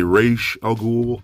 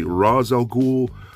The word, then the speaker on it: Ra's al Ghul: watch the animated series they prefer to say race al Ghul I prefer to say Ra's al Ghul it just sounds more appropriate and the spelling just looks more appropriate so let me know